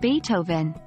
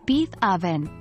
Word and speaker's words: Beethoven: Dame and what about Beethoven the renowned composer it's not beef oven as you might think but rather Beethoven here are a few